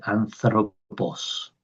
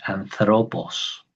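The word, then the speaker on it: ἄνθρωπος: Para el griego anterior, el griego clásico, se dice anthropos, ¿sí? Como si fuera una D, anthropos.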